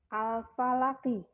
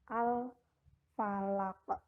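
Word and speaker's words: الفلق: atau dimatikan ya nah jadi cara membacanya disini bukan al-falaki tetapi al-falah ke seperti ini Enggak dia akan mati al-falaq Iya dipantulkan adalah huruf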